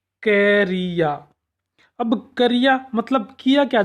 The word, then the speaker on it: क्रिया: जैसे हमने इसके शुद्ध उच्चारण देखा, क्रिया।